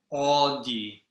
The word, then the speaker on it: 어디: 어디. Good. I like to think of the car brand. I don't know how you pronounce it in British English. AUDI. Where are you going in that Audi car?